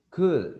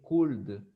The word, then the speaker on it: could: say yes i could could you don't pronounce the l you don't say cool you want to say